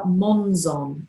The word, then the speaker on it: Monzon: And her surname is spelled Monzon, M-O-N-Z-O-N. And she said, well, it's a different spelling, but it has the same sound.